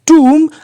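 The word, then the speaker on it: tomb: टूट के टूम को टी ओ एमबी इसमें बी साइलेंट है और टूम बोलेंगे टा पे बड़े की मात्रा टूट के टूम को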